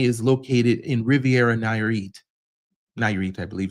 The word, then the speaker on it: Nayarit: Nayarit, I believe it's pronounced.